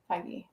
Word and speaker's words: Feige: i say you say phage i see fiji how do you say it feige spell beige the color beige i'm a good speller